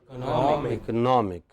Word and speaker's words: economic: The first is economy, the next is economist, but the third is economic, because IC as a suffix behaves differently from IST.